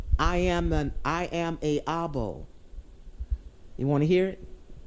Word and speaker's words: I Am a Abo: I am a Abo.